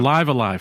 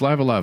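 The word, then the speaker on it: Live A Live: Live Alive is I play that as well. Is it Live Alive or Live? Live Alive. It's Live Alive.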